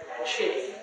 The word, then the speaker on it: qi: There's a Chinese word, qi. And the Japanese pronounce it ki.